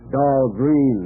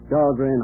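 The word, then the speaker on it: Dahlgren: Grounds oh of course they uh they mispronounce it down there doll green they say but still named after me but um at Anapolis the midshipman's Armory they call that dog grand hall pronounced it right that that's fine but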